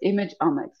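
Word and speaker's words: imageomics: that umix image omx the omx of images so it's image omx right IM like economics no like genomics like proteomics metabolomics so protein right so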